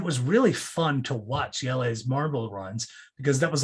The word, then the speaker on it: Jelles: It's spelled Jelles. It looks like gels, but I believe it's pronounced Yelles.